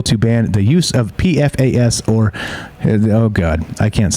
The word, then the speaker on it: PFAS: country including military bases where high rates of pfas have been discovered yeah that's how you say